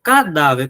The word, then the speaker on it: cadáver: Cadáver. Qual é a sílaba tônica de cadáver? Cadáver. Tá aqui, ó. Show de bola. Última, penúltima ou antepenúltima? Penúltima, professor.